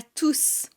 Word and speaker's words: tous: Bienvenue à tous. Il n'y a rien après tous. C'est le dernier mot de la phrase. Donc on va prononcer le S à la fin.